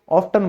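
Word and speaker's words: often: ऑफन बोलेंगे तो भी आप सही रहोगे, ऑफ्टन बोलोगे तो भी सही रहोगे। सुनना, लिसन, अब यहां पर टी साइलेंट क्यों हुआ, आज आपको पता चला, EN की वजह से।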